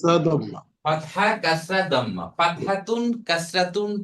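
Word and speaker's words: كسرة: ফাতহা কিন্তু পুরাটা উচ্চারণ করব আমরা শেখার জন্য। ফাতহাতুন। আর এইটাকে বলা হবে কাসরাতুন।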